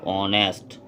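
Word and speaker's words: honest: इसको अगर हिंदी में लिखेंगे तो ऑनेस्ट, ये एस साइलेंट है, तो हिंदी का उच्चारण देखते हैं, इसलिए यहाँ पर आएगा एन।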